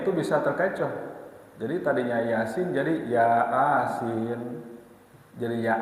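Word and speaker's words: يس: Jadi alif lam mim, terus ada lagi yasin, ya. Jadi jangan yasa, ya. Apalagi tuh, hati-hati kalau kita membaca terjemahan dalam huruf latennya itu bisa terkecoh. Jadi tadinya yasin jadi ya asin, jadi ya asin, lok asin begitu.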